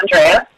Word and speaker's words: Andrea: I will tell you, I hate to correct you, but I pronounced my name Andrea. Okay, I'm already wrong. It's just the emphasis on the wrong syllable.